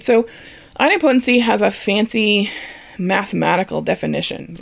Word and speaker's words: idempotency: vocabulary word in automation and that's item potency and i've also heard it pronounced idempotency i'll go with item potency it just flows off the tongue a little better right hopefully you've